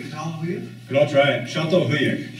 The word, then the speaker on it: Çatalhöyük: Did you say that, I still can't pronounce the word, Catalhoyuk? Could all try it. Çatalhöyük. Çatalhöyük.